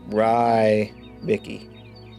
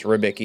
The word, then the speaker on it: Ribbiki: And eventually I just got like it's Ryicki. Ryicki. It's not. It's ribbiki is how you say it. Like ribb.